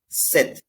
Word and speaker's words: sept: written in the bracket Seth seven is a special number here sept is the spelling s e PT but how you pronounce is set set with no and these you can